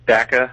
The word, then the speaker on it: Dakka: I think it's Dakka, as in like a thumbtack, Dak. Yes. There you go. So there's Dakka. 2 out of 2 Dakka owners agree.